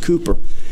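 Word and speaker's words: Cowper: famous hymn writer named William Cooper cewper Burgess pronounced Cooper and he had some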